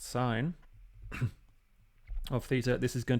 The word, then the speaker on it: sin: And I'm going to write sin, pronounced sine, of theta.